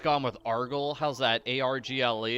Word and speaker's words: Argle: A-R-G-L-E. It's nice and short. That's better than Argle-Fump, because people can't spell it. But people can spell Argle. It's like gargle without the first G.